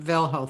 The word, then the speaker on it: velho: um but yeah um the h is silent in velho thank you roland piano